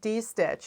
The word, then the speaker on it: distitch: what D stitch is and she calls it D stitch it's spelled this way because there's a term in